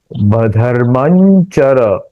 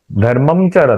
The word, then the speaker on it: धर्मं चर: दूसरा उच्चारण करें धर्ममचर, गलत होगा। उसका उच्चारण करना चाहिए धर्मांचर, आई, य का उच्चारण करना चाहिए, क्योंकि वो जो अनुस्वार है उसका उच्चारण च के अनुस्वार के जैसा हुआ, धर्मांचर।